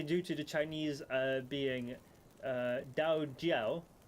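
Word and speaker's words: 道教: to the Chinese being Dao Jiao. In Mandarin and certain classical Chinese, the D isn't a voice sound, thus the 2 pronunciations.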